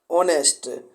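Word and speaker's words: honesty: आगे है ही इज एन ऑनेस्ट। ऑनेस्टी यहाँ पे है, तो ऑनेस्टी में एच यहाँ पर क्या हो जाता है, बोलने वक्त साइलेंट हो जाता है और लिखने वक्त हम यहाँ पर लिख लेते हैं।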